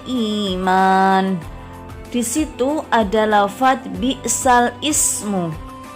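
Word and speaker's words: بئس الاسم: Ada huruf alif lam yang dibaca kasroh lamnya, sedangkan kata ismun hamzahnya tidak dibaca. Di situ tertera lafadz bi'sal ismu, tapi membacanya tidak bi'sal ismu, melainkan bi'salismu. Jadi bacanya adalah bi'salismul fusuku ba'dal iman.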